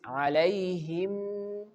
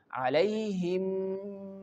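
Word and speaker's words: عَلَيْهِم: Now, move to our third example of idgham shafawi, which is alaihim. Alaihim. Here, this meem is merging into this meem and giving a nasal sound. So, how can we pronounce this word? Alaihim mussadah.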